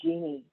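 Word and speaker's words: Jini: It's spelled J-I-N-I, but pronounced like the woman's name, Genie.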